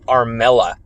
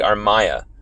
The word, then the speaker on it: Armella: it's as simple as people mispronouncing it to armella when it's actually our maya um continuous mispronunciations just